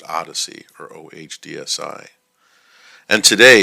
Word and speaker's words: OHDSI: the observational Health Data sciences and informatics initiative pronounced Odyssey or ohdsi and today it's used by over